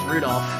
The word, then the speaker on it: Rudolph: That means that mess of characters is pronounced Rudolph.